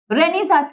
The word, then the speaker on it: Renaissance: For example, रेनेसांस क्या होता है? रेनेसा भी बोलते हैं इसको, रेनेसांस भी बोलते हैं, दो प्रोनाउंसिएशन है.